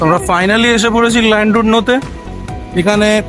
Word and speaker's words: Llandudno: দিকে যাব সো আমরা ফাইনালি এসে পড়েছি ল্যান্ডুড নোতে এখানে প্রোনাউন্সিয়েশন হয় স্যান্ডুডো দূরে পাহাড় আমরা সমুদ্রে আস্তে আস্তে অনেক দেখেছি